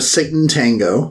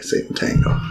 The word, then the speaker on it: Sátántangó: we uh jump into satan tango which i think that's how you pronounce it because it's supposed to they specifically say it's satan's tango like that's the i'm like oh okay satan tango and i was like